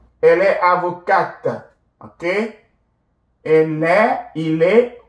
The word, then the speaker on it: avocate: Elle est avocate. You add your E and then you will pronounce the T. Elle est avocate, ok?